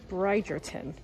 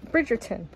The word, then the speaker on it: Bridgerton: English properly can't expect me to you know pronounce this properly but anyways this is brierton bridon brid I still said it wrong bridg Bridgerton there we go that's a fun image as